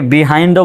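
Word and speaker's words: behind: বাহাইন্ড মানে হচ্ছে পেছনে এটাকে বিহাইন্ডও বলা যায় বাহাইন্ড বলা যায় এখানে দেখেন বিহাইন্ড লিখেছে তো আপনি বাহাইন্ড বলতে পারবেন আই ডিড নট ওয়ান্ট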